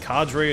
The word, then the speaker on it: cadre: the taos headquarters called cotter headquarters i've seen it pronounced cadre as well i've always thought it was pronounced cotter i don't think it